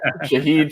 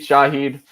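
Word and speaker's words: Shaheed: shahid's name uh Rubio a lot of emphasis on the Sha huh Shah Shahed Shahed yeah you had it you had it well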